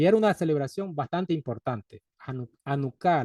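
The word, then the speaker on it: Janucá: una celebración bastante importante anuca le llaman o hanuka algunos pronuncian con j como si fuera en inglés a mí no me gusta pronunciar la H como si fuera gringo o como si fuera una palabra inglesa anuca con h al inicio anuca la fiesta de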